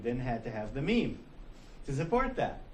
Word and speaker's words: meme: those who like visuals meme rhymes with cream smallest unit of replicating